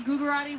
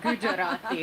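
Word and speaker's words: Gugerotti: All right, one more name and I'm going to say it wrong. Gujarati. Guugerati. What's the Which one of you is right? Gujarati. Gujarati is right.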